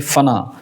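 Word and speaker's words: फ़ना: में आपको दो शब्द आता है, एक है फना। अभी देखिए इसका उच्चारण उर्दू है, ये आप देखेंगे फना बोलते हैं, फना।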